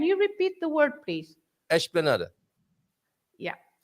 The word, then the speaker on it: esplanada: You shouldn't start with e, right? Because you have an es. Oh my, when you have an es, yes. and then you have an es and another consonant. Yes. You start with ish.